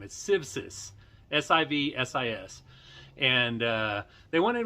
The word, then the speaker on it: Civsis: to mention a couple of things first the pronunciation of the name is civsis s-i-v-s-i-s and uh they wanted me to mention